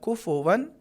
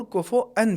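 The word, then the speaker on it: كفوا: دہانی ضروری ہے کہ اس کا 2 تلفظ صحیح ہیں، کفون بھی صحیح ہے اور کفؤن بھی صحیح ہے۔ اگر ہم نماز میں پڑھیں گے کفؤن احد، یہ بھی تلفظ صحیح ہے، اور اگر پڑھیں گے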